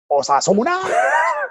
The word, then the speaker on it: Osasuna: So again, That's how you pronounce the top teams, Osasuna.